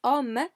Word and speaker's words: homme: So here we've got, well, it's homme, because in French we do not pronounce this H, okay?